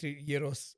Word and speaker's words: Yeeros: First of all, Greet Yuros, which uh thank you again for teaching me